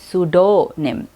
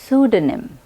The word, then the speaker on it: pseudonym: कुछ लोग इस पी को प्रोनाउंस करके इस वर्ड को रॉन्गली प्रोनाउंस करते हैं। कुछ लोग ड को डो कहते हैं, सूडोनिम, वो भी गलत है। करेक्ट प्रोनाउंसिएशन है सूडोनिम।